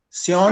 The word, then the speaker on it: Saon: I hope I have pronounced your name correctly. Saon?